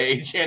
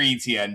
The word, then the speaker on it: Etienne: on another team was going by Achane and had to correct pronunciation. No, you're Etienne, dude.